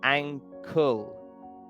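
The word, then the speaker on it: ankle: This time the K is not silent. So, we do pronounce the K because it's not an, it's anul.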